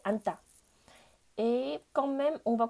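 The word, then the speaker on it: 앉다: Mais par contre, pour prononcer, on ne prononce pas du tout ji. Donc ça fait anta.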